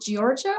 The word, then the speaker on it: Georgia: Is it Georgia or Georgia? I want to make sure I pronounce that correctly. It's Georgia, like the state. Like the state. Georgia, thank you so much for the introduction.